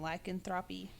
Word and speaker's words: lycanthropy: Except the association between lycanthropy, is that correct pronunciation? Lycanthropy. Yes.